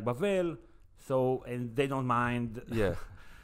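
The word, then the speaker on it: בבל: Bavel balal. The, okay. First of all, the name is Bavel. Bavel? In the Hebrew pronunciation, it's Bavel.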